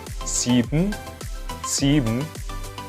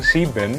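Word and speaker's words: sieben: friends friends sex sex sim sim oh oh no in knowing sin-sin untuk angka 7 sendiri siben Jadi kesannya Emang si Ben Tapi bacanya bukan si Ben tapi Simsim Oke kita akan review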